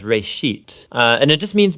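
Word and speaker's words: בראשית: Genesis comes from a Hebrew word uh it's pronounced RIT uh and it just means beginning now there's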